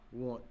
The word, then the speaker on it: wont: feet and running away, which you are not wont to do. And want, in this case, is spelled W-O-N-T.